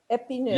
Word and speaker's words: Epineuil: The Bourgogne Tonnerre is the Blanc, AKA Chardonnay, and the Bourgogne Epineuil. Did I say it right? Is Pinot Noir. Epineuil. No, thank you. Epineuil. Epineuil, yeah, is good.